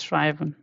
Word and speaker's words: schreiben: How I pronounce it? Sha, ra, I. This two a and e sound is this together. I have told many times by now. This is I. So schreiben.